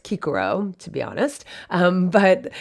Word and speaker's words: Cicero: chickpeas so cicero now i'm not going to harp on the fact that the c would be pronounced with the hard k sound but i just think